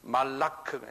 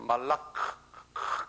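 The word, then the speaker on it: מלאך: 그런데 히브리 사람들, 유대인 사람들은 그 발음을 달리해요. 말라크라고 그래요. 그 사람들은 말라크, M-A-L-A-K-H가 붙어요. 말라크 하는 발음이 있어요.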